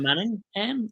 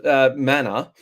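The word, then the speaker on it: Mannagh: Sean Manningham or whatever. No, there's no ham involved. Manor.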